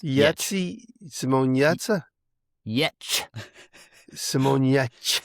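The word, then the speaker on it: Giertz: Yetch. Simone Getz video of... This is with the yeah. Yetch. Getcha. The G is non-existent. Yetz. I mean, it's there, but it's Yetzy. Simone Yetza? Yetch. Simone Yetch.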